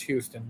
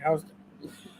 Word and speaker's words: Houston: houston street and i i know if you're a texan it's houston but new yorkers can't pronounce it say how's it and the reason why